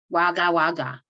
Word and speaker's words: Wagga Wagga: though she live in Wagga Wagga okay so I can say it right Wagga Wagga Wagga Wagga right yeah correct me my English okay